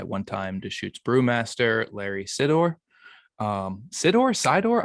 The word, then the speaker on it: Sidor: Sidor? I never know how to pronounce. You got it right. For yep, Sidor.